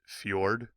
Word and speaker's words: fjord: one right below where it says straight that's pronounced Fjord um it's kind of like a straight it